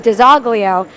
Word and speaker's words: DiZoglio: I am Italian American, but I was born and raised in Methuen and Lawrence, and the way that I was told to say my name all growing up was DiZoglio.